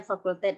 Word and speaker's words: fakultet: Jadi ini bacanya fakultet ya, n fakultet sama dengan n kali n-1 kali n-2 dan seterusnya kali 3 kali 2 kali 1.